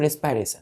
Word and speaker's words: रेस्पिरेशन: तो यहाँ लिखिएगा रिस्पायरेटरी, यहाँ स्टार दे करके, रिस्पिरेशन, रिस्पायरेशन, प्रोनाउंसिएशन क्या करते हैं बच्चों, रिस्पायरेशन।